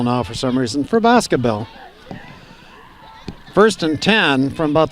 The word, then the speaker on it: Boscobel: position again for Baskerville sort of putting that accent on the last syllable now for some reason for Boscobel first and ten from